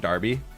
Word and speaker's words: Derby: night so uh Darby Derby is pronounced Darby but that's with an A and they have it with an E cuz there's also like